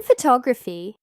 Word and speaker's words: photography: For example, in the word photograph, the stress is on the first part, ph to graph. But in photography, it's on the second part, photography.